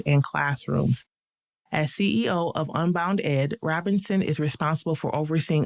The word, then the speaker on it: UnboundEd: Lacey Robinson is the president and CEO of UnboundEd. I'm pronouncing that correctly.